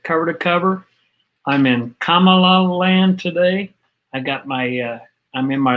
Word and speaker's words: Kamala: Just say the word comma, like the comma, pronunciation mark, and la, Kamala. It's in India, it means the goddess of wealth. Okay, Kamala Devi is her name, which is goddess of wealth.